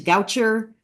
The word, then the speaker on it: Goucher: also verbally tell them I went to Goucher rhymes with voucher so that was something